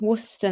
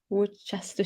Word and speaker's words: Worcester: based so I'm in Worcester now at least I can say it right now yeah I used to be like Woodchester Shire and stuff is it Worcester yeah yeah Worcester so like Worcester sauce